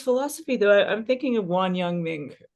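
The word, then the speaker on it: Wang Yangming: though I'm thinking of Wan yangang Ming or Wong y Ming right to to pronounce that name better right this idea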